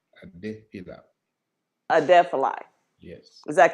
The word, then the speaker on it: Adefila: The last name is pronounced Adefila. Adefila.